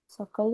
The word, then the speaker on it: सकल: break लेते हैं पहले सकल स क और ल तीनों अक्षरों के पूर्ण उच्चारण सकल आप जब प्रिंट आउट करोगे तो आप पेंसिल से अंडरलाइन कर सकते हो वर्ड्स के नीचे सकल तीनों के उच्चारण पूर्ण